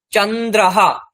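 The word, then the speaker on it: চন্দ্রঃ: হসকার বিসর্গ বেণুহু বেণুহু বাসি তারপরে চাঁদ মুন চন্দ্রাহা চন্দ্রাহা চ দন্তন নয়দয় রফলা বিসর্গ চন্দ্রাহা চাঁদ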